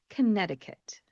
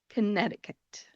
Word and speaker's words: Connecticut: The third state on our list has a silent letter in it, and it is one of the longer names for a state name, and it is Connecticut. Connecticut.